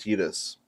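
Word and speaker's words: Tidus: Also, for those of you who aren't aware, it is pronounced Tetus because the romance of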